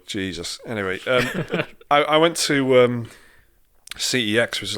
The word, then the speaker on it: CeX: anyway I went to cex which is like you know if you're not from the UK is like just it's actually pronounced sex isn't it if you're from Europe yeah but I'll never